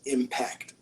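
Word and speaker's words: M-PACT: you spell it with the letter M dash PACT, Impact.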